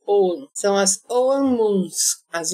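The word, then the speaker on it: ogham: seja é a palavra é o g h a m de Maria og gan mas não se pronuncia o g então é o calendário ow são as ow moons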